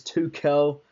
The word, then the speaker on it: Tuchel: corrected on my pronunciation it's Tel almost like pel but Thomas TCO Nick